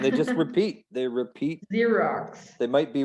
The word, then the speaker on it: Xerox: sound of it zero it's got two x's but they're both pronounced differently yeah next one it's